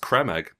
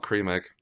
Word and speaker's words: Creme Egg: Also, fun fact: it's pronounced creme egg. Creme egg? Creme egg, not cream egg.